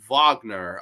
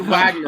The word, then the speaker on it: Wagner: Grani, you pronounce it Wagner. Okay, okay. I thought it said Wagner up here.